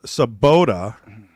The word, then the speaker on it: Sobotta: names on the stream for sure so it's saboda and Gable like Chris is I should pronounce it Tris Patrick glean Klein no